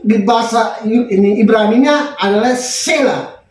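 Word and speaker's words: צלע: Nah, tapi kalau di dalam yang kita baca tadi, tulang rusuk di bahasa ini Ibraninya adalah sela. T-S-E-L-A. Sela. T-sela. Jadi bacanya sela.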